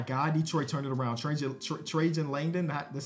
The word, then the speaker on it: Trajan Langdon: Trajan Langdon. That's how you pronounce his name.